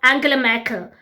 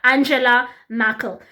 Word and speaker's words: Angela Merkel: He was strongly against mass immigration, a big critic of Angela Merkel. If you speak German, that's how we pronounce her name out here.